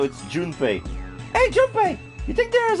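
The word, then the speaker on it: Junpei: uh but it her his name is pronoun is is spelled j u n p e i so it's June hey June you think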